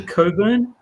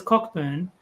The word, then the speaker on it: Cockburn: One of my favorites is Cockburn is not pronounced the way that you would expect. It's actually Coburn.